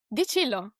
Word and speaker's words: Di Cillo: So if it is Italian, is it Di Cillo or Di Cillo? Di Cillo, actually. Okay, Yes, got it.